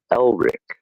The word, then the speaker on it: Elric: There's no D. It's just Elrich.